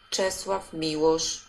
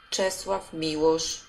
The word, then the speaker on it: Czesław Miłosz: Czesław Miłosz. Czesław Miłosz. I make that as Czesław Miłosz, and that's as good as I can do with that.